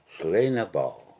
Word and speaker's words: Sliabh na mBan: is my soft background it's called slain a bow and I understand means